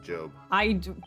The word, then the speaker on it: Job: Usually I'm the one that has to tell people it's pronounced Job.